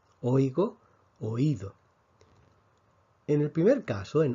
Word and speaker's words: oído: dos sílabas hoy go en oído tenemos lo que llamamos un hiato niñato es cuando tenemos dos vocales que no forman una sílaba entonces tenemos o ido y en español automáticamente cuando tenemos dos vocales una vocal abierta y una vocal cerrada que no forman un diptongo tenemos que escribir un acento y esto es lo